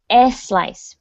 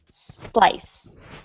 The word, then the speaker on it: slice: that was great adella so for spanish and portuguese speakers it's it can be challenging to start a word with the letter s because all of your words will start with es for example espana but it's good practice to not say es slice just slice okay and we can